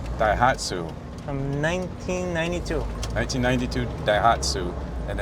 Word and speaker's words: Daihatsu: Rocky's your, how do you pronounce it? Daihatsu. Daihatsu.